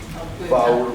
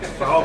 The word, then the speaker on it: fawr: Fawr burger. Burger fawr. Foul burger?